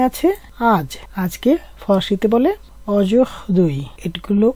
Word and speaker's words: aujourd'hui: তো এই শব্দগুলি ফরাসিতে কিভাবে বলতে হয়, এখানে আছে আজ, আজকে ফরাসিতে বলে অজুহদুই, এটগুলো ও জুহদুই, উচ্চারণটা বাংলায় লিখে দিয়েছি অজুহদুই।